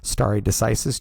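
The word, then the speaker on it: stare decisis: is stary decisis which is what how you pronounce that word stary decisis just means that we use past is to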